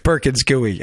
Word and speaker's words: Perkins Coie: Perkins Coie. I just did, that's why I didn't look up how it's pronounced.